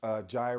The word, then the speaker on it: Jira: I've seen people use Jira or Jira, depends on where you're from, or how you say it.